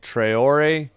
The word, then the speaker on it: Traore: At the top of the arc, dribble by Traore.